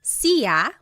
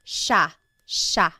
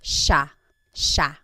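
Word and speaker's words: siya: the spelling it looks like it should be pronounced CA but it's actually pronounced Sha Sha there are some regions in the Philippines that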